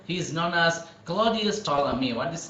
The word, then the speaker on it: Ptolemy: So the P should be silent.